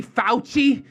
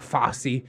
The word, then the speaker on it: Fauci: unless you're watching red x on the tv huh well there's a catch-22 but honestly daddy fauci i think that's how you say it not fosse he's he's got a